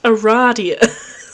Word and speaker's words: Aradia: another zone that kid you must have said Aries out loud because she immediately corrects you it is pronounced Aradia that makes sense although you've just met you